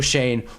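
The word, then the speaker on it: Schoen: There's a reason Joe Shane rhymes with pain.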